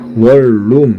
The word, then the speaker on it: 원룸: 니은이 리을 만나니까 신라, 칼날, 우리가 또 하는 뭐 요거 이렇게 원룸이라고 쓰지만 원래는 어떻게 발음해요? 월룸 이렇게 발음하죠.